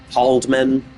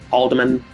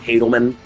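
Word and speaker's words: HALDEMAN: It's called It's actually pronounced Halddman. Haldderman. Haldderman. Not Helleman.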